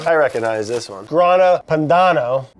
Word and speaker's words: Grana Padano: Grana Padano. Grana Padana? Grana Padana. It's Padano.